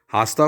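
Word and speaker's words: hasta: कल को कहते हैं आस्ता का एज साइलेंट होगा आस्था कहेंगे आस्था माने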